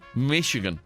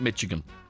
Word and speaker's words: Michigan: Michigan is how you pronounce the place, not Michigan.